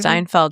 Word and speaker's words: Steinfeld: Steinfeld. Is that how you say it? Steinfeld.